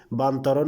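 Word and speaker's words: بنطلون: Jeans pant যে কোনো প্যান্টকে বান্তরণ বলা হয়। বান্তরণ আমি যেভাবে উচ্চারণ করছি আপনারা ঠিক ওভাবেই উচ্চারণ করবেন, এটাই সঠিক অ্যারাবিয়ান ল্যাঙ্গুয়েজ। ওকে, বান্তরণ।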